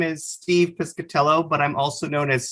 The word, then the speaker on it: Piscitello: You know, there's two I's in it. There's not a single A, but you can hear an A sound.